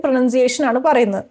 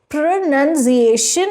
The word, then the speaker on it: pronunciation: first word is pronunciation what is the right and wrong way of saying this word pronunciation pronunciation is correct interviewer and not pronunciation it's actually linked to enunciation which is to speak clearly and it's not linked to pronoun which is where the confusion comes from pronunciation interviewer and what